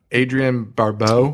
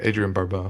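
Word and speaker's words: Adrienne Barbeau: How do you pronounce that? Adrian Barbeau. Yeah, That's how I voice it. Adrian Barbeau.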